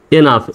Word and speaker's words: enough: ENOUGH, এনাফ, এই শব্দেও GH এর উচ্চারণ ফর মতো। তো এখানে হবে এনাফ, এনাফ।